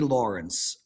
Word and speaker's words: Lawrence: Wait, Lawrence has 3 syllables? Kid Lawrence. How's pronouncing Lawrence with 3 syllables? Lawrence. 2 syllables.